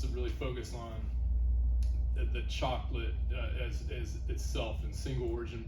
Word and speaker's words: Xocolatl: gone back and forth we've changed the pronunciation slightly we originally were kind of chocolato now we're trying to get in more just chocolate which is maybe a little bit more correct pronunciation it comes from the